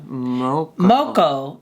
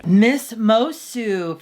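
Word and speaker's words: Moço: It's like a C with a goatee on it. A goatee. Miss Mosu. Forgive our earlier pronunciation. Miss Mosu. It's from the Portuguese.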